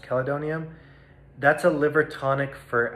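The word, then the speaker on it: chelidonium: one is an herb called caledonium or cheledonium i think it's pronounced calidonium that's a liver tonic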